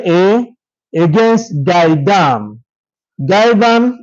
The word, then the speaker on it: Gaidam: Maihaja is spelled m a i h a j a against Gaidam.